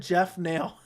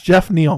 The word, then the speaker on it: Jeff Neal: Dude said Jeff Nail. Dude really said Jeff Nail. Chase, it's Jeff Neal, bro.